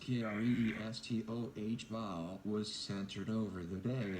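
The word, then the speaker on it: Cristóbal: CDT tropical storm Cristobal pronounced here re es toh ba was centered over the Bay of Campeche about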